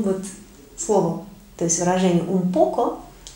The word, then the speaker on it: un poco: Итак, очень часто наше слово встречается в выражении «un poco». «Un poco». Для красоты, видимо, речи, испанцы здесь произносят «м».